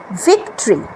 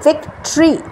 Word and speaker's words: victory: তারপরে হচ্ছে ভিক্টরি, VICTORY, এটার প্রোনাউন্সিয়েশন হচ্ছে ভিক্টরি, কিন্তু আমরা কিভাবে বলি? ভিক্টরি। ভিক্টরি বলি, এটাও কিন্তু ভুল। ভিক্টরি, ভিক্টরি কোনোটাই না, উচ্চারণটা হচ্ছে ভিক্টরি।